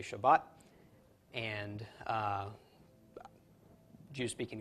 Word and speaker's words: Shabbat: from time to time so they will say Torah because there's a doggish in the table in Torah but instead of saying Shabbat they will say Shabbos because the table at the end of Shabbat does not have a doggish okay so you'll hear